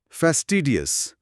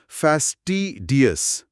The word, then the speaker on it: fastidious: উচ্চারণটা কি হবে? ফ্যাস্টিডিয়াস, ফ্যাস্টিডিয়াস, ফ্যাস্টিডিয়াস।